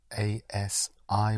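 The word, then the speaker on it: así: that or that way is a C spelled A S I with an accent over the I right as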